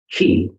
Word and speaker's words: ki: you'll see it chi or qi, but it's pronounced qi. The Japanese is ki, ki, and it is the same as the